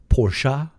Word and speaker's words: Porsche: Man, Americans, even when they tried to properly pronounce uh the name of the car, still it up. Porsche.